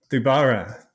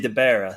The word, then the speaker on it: DiBara: the name pronunciation you half my family says it one way half the other so you covered your bases there all right all right debara debara what's the other half say they say deara so it's split dear